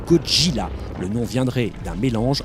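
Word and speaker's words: ゴジラ: enfin pour être complet sachez que cotinat se prononce en japonais koji là le nom viendrait d'un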